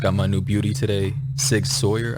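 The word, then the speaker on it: SIG Sauer: my new beauty today sig sawyer i believe is the pronunciation nine millimeter ask any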